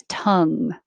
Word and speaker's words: tongue: letters but it really i spelled this u h to represent the uh sound so it's the upside down e it's the same uh as in up tongue volume volume drop drop